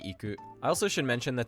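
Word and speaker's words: 行く: Saying something like Tokyo ni iku is wrong. The correct way to say this would be Tokyo ni iku.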